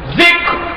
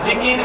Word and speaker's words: যিকর: যিকর, ফিকর, শুকর। কয়টা? যিকর, ফিকর, শুকর। যেটা বাংলাতে আপনারা ভুল বলেন, জিকির, ফিকির, শুকর।